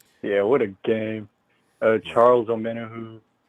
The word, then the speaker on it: Omenihu: Charles Omenihu. Omenihu, that's how you pronounce it.